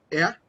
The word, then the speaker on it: er: Er. La R ahí es más gutural. Er. Eso. No tan gutural.